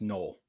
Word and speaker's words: Noel: Um, that I'm going with Noel or Nol, excuse me, it's pronounced null.